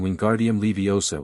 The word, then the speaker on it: Wingardium Leviosa: Hermione continued to be both 10 minutes early to charms and the only person in their year capable of pronouncing Wingardium Leviosa with the proper short eye.